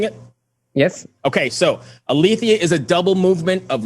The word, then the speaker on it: Aletheia: explain it to anybody listening um is that aletheia is that how i'm pronouncing it yes okay so alethia is a double movement of light and darkness